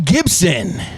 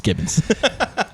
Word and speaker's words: Gibbons: special guest today is gibson wow i'm kidding it's gibbons gibson bro yeah yeah